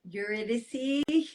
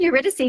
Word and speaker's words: Eurydice: So the basis of that is your I always butcher the pronunciation. Eurydice. Oh yeah, The that's girl. good. Yeah, Eurydice. Eurydice. You did it perfectly.